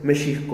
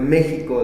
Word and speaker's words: México: Y pues ahora todos lo pronunciamos con J, pero pues la forma ideal, o como está escrito, es con X.